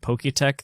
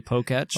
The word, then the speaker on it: Poketch: Is this one of those moments where you realize you've been pronouncing it Poketech this whole time, but it's actually Poketch?